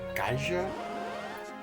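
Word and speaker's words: Ghidra: She will turn it into either a red dragon or a uh I'm not 100% sure how best to pronounce it. I think gaja. G h i d r a.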